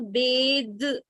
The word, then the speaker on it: bathe: letters as th okay when the last two letters are th then it is unvoiced okay it is unvoiced now to change unvoiced into voice we put an e which is silent so it is bath okay it is bugged unvoiced which changes to bathe for we uh by